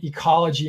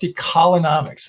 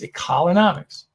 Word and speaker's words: ecolonomics: It is the synergy between ecology and economy. And you'll see in that little picture, it shows that. And society also. So again, pronounced ecolonomics. A lot of times people go ecolo, and it's ecolonomics.